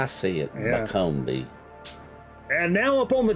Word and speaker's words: Buncombe: That's Buncombe County, yeah. Buncombe. Buncombe. It's spelled weird. That's how I see it. I say it how I see it. Yeah. Buncombe.